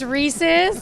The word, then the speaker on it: Reese's: Reese's is winning isn't right it's Reese's and I get mad at my husband all the time cuz he calls it a racy Cup and I'm like it's